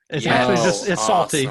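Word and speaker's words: Psalty: all these fantastic praise salty but the P is silent but it's like Psalms and that was the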